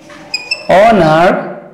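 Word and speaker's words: honour: এই এইচ এর উচ্চারণ যদি অনুচ্চারিত থাকে, অর্থাৎ কি এইচ এর উচ্চারণ যদি সাইলেন্ট থাকে, উচ্চারিত না হয়, আমি শব্দ লিখছি, খেয়াল করো। যেমন আওয়ার, অনার, তারপর কি অনারেবল, ইয়ার।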